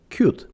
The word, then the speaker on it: Qt: The correct way to write Qt is with uppercase for the Q and lowercase for the T, and the way to pronounce it is Qt. There is an old joke among Qt developers that written with capital letters, Qt stands for quick time. So please write and pronounce Qt properly.